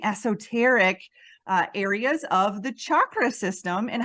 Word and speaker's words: chakra: let's start off with how do we pronounce is it chakra or is it chakra I personally prefer chakra and rolling the r but I don't do that very often because it's difficult for my American tongue but I like to